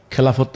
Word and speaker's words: খেলাফত: খেলাফত রাষ্ট্র বা খেলাফা, আসলে শব্দটা আমরা যেহেতু একার দিয়ে উচ্চারণ করি, তাহলে খেলাফত বলি আমরা, যেমন ইবাদত, এলহাম, আর ইদানিং বলি খিলাফা।